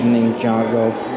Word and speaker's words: Ninjago: a ninja go or ninjago the ride still trying to say it right i was saying ninja go earlier i think but ninjago the ride let's see if we